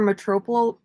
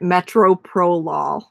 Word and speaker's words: metoprolol: Yeah, my script actually says I kept calling it Metoprolol. Metoprolol. Putting the emphasis on the wrong syllable.